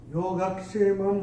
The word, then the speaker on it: योगक्षेमं: और चौथे चरण में मां के ऊपर जो अनुस्वार आ रहा है उसके बाद का अक्षर है व, और अनुस्वार के बाद जब व आएगा तो अनुस्वार का उच्चारण होगा म। योगक्षेमं वहाम्यहम्, ऐसे करके आएगा।